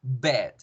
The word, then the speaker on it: bed: Y ojo, no podemos pronunciar la larga porque si nosotros llegamos a pronunciar larga esa E, se me va a confundir con ave, ¿verdad? Porque si iba a decir bed, bed, bed, va a sonar como ave, bird, bird, bird.